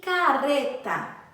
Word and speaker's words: carreta: Carreta possui o som brando e o som do R sai da nossa língua. A nossa língua treme ao falar.